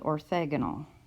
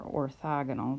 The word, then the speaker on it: orthogonal: Vectors that are perpendicular are called orthagonal or orthogonal, depends on how you want to pronounce it, tomato, tomahto right?